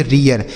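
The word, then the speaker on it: rear: इसे हम पढ़ेंगे रियर। इसे रीर नहीं पढ़ेंगे। रियर पढ़ेंगे।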